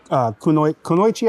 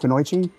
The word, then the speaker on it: kunoichi: There was actually female ninjas, and they were called kunoichi, I believe is how it's pronounced, kunoichi.